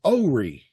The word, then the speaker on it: Horry: Well, the way I've heard it said by locals is Ori, but that sounds a little much. What? As long as you don't pronounce the H, you're okay.